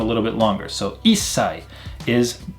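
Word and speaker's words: 一歳: 1 year old is not ichisai, but issai. We drop off the chi sound and we make the s sound a little bit longer. So issai is 1 year old.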